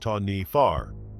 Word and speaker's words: Taniwha: In Maori legend or folklore, there is a creature called the Taniwha, pronounced Taniwha, which guards certain areas in nature or is